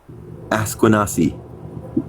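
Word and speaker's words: Akwesasne: Asquanassy. There you go. Asquanassy. Then hundreds and then of add T to the end of it. Asquanassy. Asquanassy. Asquanassy. There you go. Last one was right. Asquanassy.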